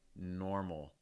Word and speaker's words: normal: word like normal normal what you're typically going to do is you're going to lower the front of your tongue and raise the back of your tongue so again it's going to sound like normal normal instead of normal more normal compare that